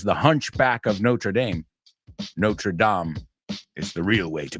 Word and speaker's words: Notre Dame: hunch as was the Hunchback of notra Dame notredam is the real way to pronounce it yes not tram but we say Notre Dame because it's a university so I have a